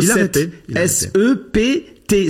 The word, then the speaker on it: sept: Il y a pas l'idée de fatig écrit le mot s e p t. Sept sept. En vrai, on devrait prononcer Sept et en arabe sep c'est shabbat.